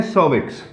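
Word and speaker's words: cervix: हैं जिसको बोलते हैं सर्विक्स। ठीक है, इसको बोला जाता है सर्विक्स। कई लोग कर्विक्स भी बोलते हैं, बट देन इसका सर्विक्स बोलते हैं इसको वैसे प्रोनाउंसिएशन में, but then it is called सर्विक्स।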